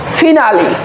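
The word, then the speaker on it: finally: তো প্রসঙ্গত বলি এইখানে অনেকেই শব্দটাকে ফাইনালি বলবে, বাট এটার রং উচ্চারণ হয়েছিল এতদিন, এটা সঠিক উচ্চারণ হবে ফিনালি, ফিনাল বা ফিনালি।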